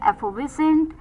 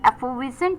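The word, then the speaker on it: effervescent: Moving on द 10थ word for the evening was एफोविसेंट।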